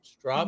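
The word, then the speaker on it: Stroppe: Did I say it right? Strop You did. It's like stop sign.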